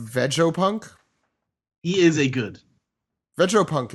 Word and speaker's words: Vegapunk: pronounced Vegopunk.